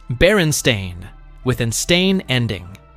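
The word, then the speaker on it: Berenstain: It's pronounced Baron Stain with an stain ending.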